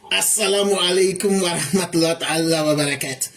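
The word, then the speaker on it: السلام عليكم ورحمة الله تعالى وبركاته: On dit pas ça, on dit pas ça, on dit pas ça, on dit Assalamu alaikum wa rahmatullahi ta'ala wa barakatuh. Comme les Arabes. Et il faut prononcer ça.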